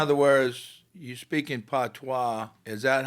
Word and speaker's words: patois: Okay, you mentioned patois. Is that how you pronounce it?